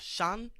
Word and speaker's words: Sean: Apparently, the Irish name Sean is the most mispronounced name in the world. Sean. Right, what do they butcher call it? that? Scene? It could be seen. Scene, yeah. That's not my name. Shun. Shun.